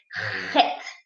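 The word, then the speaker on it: חית: Okay, listen, this is a very tricky letter. Okay, I don't know if a lot of people, it's very hard for them to pronounce this letter. Okay, it has a very unique sound. As we call it chet. Can you hear me? It is very hard. There's no equivalent in English.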